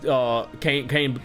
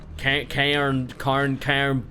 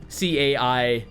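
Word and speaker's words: Cairne: he almost lost against Kane Bloodhoof, Kane Bloodhoof. I already forgot how like mention like or pronounce his name. Bane Bloodhoof's father. Cairn Bloodhoof, or some way to like pronounce it. C-A-I-R-N-E.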